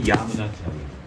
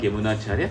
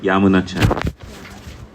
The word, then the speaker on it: Yamunacharya: So it is, when we pronounce it, it should be Yamunacharya. Oh, Yamunacharya. Not Yamunacharya, Yamunacharya.